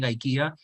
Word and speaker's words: IKEA: And my professor was Swedish, like I said, so he insisted on calling IKEA IKEA, because he insisted that that was the correct pronunciation and it cannot be said in any other way.